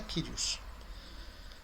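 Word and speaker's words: κύριος: Não vamos crucificar ele por isso não, mas a pronúncia correta é Kyrios.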